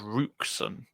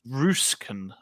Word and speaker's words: Roosken: No, I think they've signed a Dutch wingback called Rooksen. That's a fun name for us to pronounce. Roosken, I believe, is the pronunciation, but I'll probably be corrected.